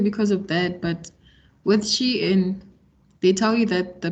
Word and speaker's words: Shein: So I'm pronouncing it wrong. You said Shein and I'm saying Sheen.